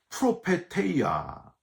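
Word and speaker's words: προφητεία: 외적인 은사, 예언 은사는 헬라어로는요, 프로페테이아, 히브리어로는 나비라고 발음을 하는데 점쟁이식으로 미리 일어날 일을 말해주는 사람이란 뜻이 아니고요.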